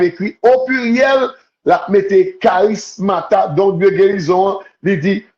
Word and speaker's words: charismata: matamoton en en grec Nous va ça mata c h a r i s m a t a i moton i a m o t o n g prononcé charismata il a mon c'est les dons